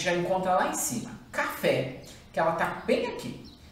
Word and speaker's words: café: A primeira a gente já encontra lá em cima, café, que ela está bem aqui.